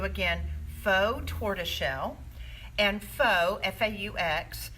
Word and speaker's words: faux: faux tortoiseshell and faux FAU X it's not pronounced fox it's pronounced faux meaning